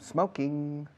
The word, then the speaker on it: smoking: Pega la S de smoking a la M de I'm, por favor. Como si fuera una sola palabra. I'm smoking. I'm smoking. No digáis I'm smoking. No una letra E delante de la S en smoking.